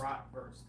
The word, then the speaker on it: bratwurst: bratwurst. Yeah, bratwurst, yeah. So yeah, the W was pronounced like a V, so that's why I said worst, but you know, verst. Bratwurst.